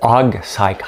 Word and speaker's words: hog cycle: Parce que là, les gens disent le hog cycle. Hog cycle. Il faut toujours prononcer le H.